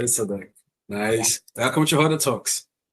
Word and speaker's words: Elsadek: Am I pronouncing Elsadek. Elsadek?